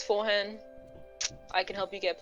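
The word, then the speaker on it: Forhan: spell that f-o-r-h-a-n nice like forehand but not yes just forehand love it now that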